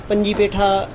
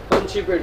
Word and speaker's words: पंछी पेठा: वहाँ पे पूछें कि पंजी पेठा, पंछी पेठा उसके, हाँ पंछी पेठा, सॉरी मैं बार बार गलत प्रोनाउंसिएशन कर रहा हूँ।